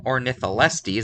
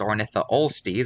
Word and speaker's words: Ornitholestes: And in Ornitholestes, I accidentally pronounced it as Ornitholestes when it's actually Ornitholestes.